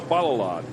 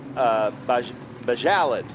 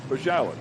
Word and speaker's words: Bajalad: Graham Adelman and Joe Balalad. So I've just heard. So Joe Serban told me it's Joe Bajalad, like salad. Bajalad.